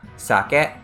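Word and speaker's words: 酒: sake salmon is sake so the alcohol is a low pitch than a high pitch it goes socket and salmon the fish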